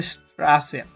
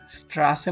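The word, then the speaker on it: Straße: রয়েছে এবং এটার উচ্চারণটা দুইটা এস একসাথে রাখলে যেরকম উচ্চারণ হয় সেরকমই উচ্চারণ হয়তো স্ট্রাসে স্ট্রাসে মানে হচ্ছে স্ট্রিট বা রাস্তা।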